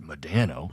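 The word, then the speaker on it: Modano: No one ever pronounces it Madano. Got to sound it out.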